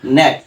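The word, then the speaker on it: knack: ধরনের যত শব্দ পাবে শব্দের শুরুতে যদি কে এন পাও তাহলে সেখানে কি হবে কে টা অনুচ্চারিত হবে আর এন থেকে উচ্চারণ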